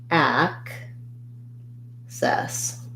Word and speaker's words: access: access versus excess so in access i have first syllable stress we have the black cat vowel and then we have the red tent vowel so it sounds like ack cess and then in excess